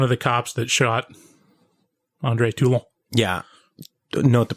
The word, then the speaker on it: Toulon: Like, cause she's introduced as one of the cops that shot Andre Toulon. Yeah. Note the pronunciation.